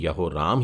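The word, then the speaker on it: יהורם: और इस शब्द का उच्चारण भी यहोराम ही है हिब्रू में, और इसको इस तरीके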